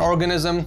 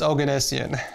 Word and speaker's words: Oganessian: Most people can't pronounce my last name because it is an Armenian last name. But it's not organism, it's not orgasm, it's Oganessian.